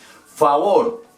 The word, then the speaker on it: favor: Favor. Vamos a ver, favor. Favor. Lo mismo. La A en inglés se dice A. Y la otra O si se pronuncia normal porque termina en R.